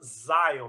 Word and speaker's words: Xion: gente boa, molecada, assim, se chama Zion, mas se escreve com X.